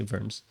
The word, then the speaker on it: Worms: mid 1500 K sa worms or worms German mo ang pag-pronounce W sa ano V verms sa diet of verms